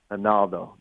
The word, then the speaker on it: Ronaldo: One tweak is in the Portuguese, they pronounce the R with an H, so it's Ronaldo.